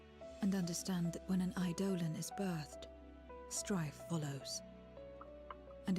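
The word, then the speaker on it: Eidolon: fearsome beings known as idolan iolm I mean I I pronounce it idolon but that works to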